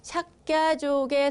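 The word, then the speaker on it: Śākya: 석가모니의 석가, 그러니까 석가족, 원어로는 삭갸족이라고 하죠. 발음이 어렵습니다. 삭갸족, 삭갸족의 성자라고 하는 의미입니다.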